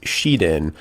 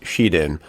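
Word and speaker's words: 紫電: When you hear her nickname spoken in Japanese, however, it is pronounced Shiden, and it's written with two kanji, one for the color purple, the other meaning electric, pronounced Shiden.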